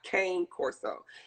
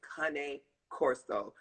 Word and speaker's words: Cane Corso: It's not cane corso. And I actually looked it up. When you get them where you get them from, the real people who breed them the right way, they're pronounced cane corso, not cane corso. That's us down south people doing it.